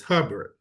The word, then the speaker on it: Herbert: And so I wanted to show people that, in this case, my great grandfather was named Herbert Campbell, but we always pronounce his name as Hubbard.